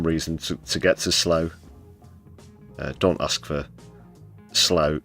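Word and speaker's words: Slough: but also Preston and slow that's pronounced slow for anyone who's not from the UK.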